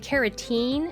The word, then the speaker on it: carotene: I try to say it like carotene and keratin. Teen and tin. So teen is like teeth, and tin is like to win a race.